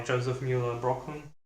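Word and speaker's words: Josef Müller-Brockmann: definitely help with composition uh grid systems by Joseph Mueller brockland that's that's how you say it yeah very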